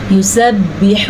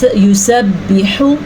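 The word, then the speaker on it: يسبح: خاص خیال رکھنا ہے۔ یسبح للہ، یسبح، حا کو لمبا نہیں کرنا آپ نے، یعنی کہ آپ یسبح ایسے نہیں پڑھنا، یا حا کے تلفظ کو غلط نہیں پڑھنا، یعنی کہ یسبح اکثر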